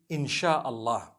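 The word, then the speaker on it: Insya Allah: If you look at, the Malay language, they write in Sia Allah, the S-Y-A. They pronounce the S-Y the way we pronounce S-H.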